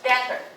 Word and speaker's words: debtor: 你欠人家钱，你是什么？债务人，叫 debtor. 这个 B 是不发音的。Okay.